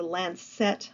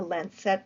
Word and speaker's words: lancet: because of that Gothic Lancet window there's a lance set window l-a-n-c-e-t a lens set window a pointed Arch a window right behind